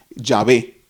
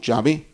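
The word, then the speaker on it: Yahweh: el griega hv H la pronunciación más aproximada es llave llave no Jehová sino ya ve otros creen que no es llave sino que otros creen que es yagüe yagüe y otros creen que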